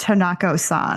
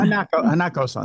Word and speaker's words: Hanako-san: I believe it's pronounced Hanako-san. Hanako-san.